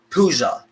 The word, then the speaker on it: puja: And in India, they perform this ritual called puja. It's Puja, and that is pronounced right. It's puja.